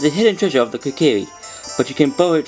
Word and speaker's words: Kokiri: I'm just gonna quickly find out how to pronounce that name. So I went on to translate and find out it's called Kokiri.